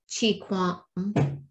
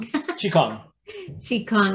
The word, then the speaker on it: Qigong: So were you saying that Wim Hof's breathing techniques, is that the same Qi Quang? I know I'm saying that wrong. Qigong.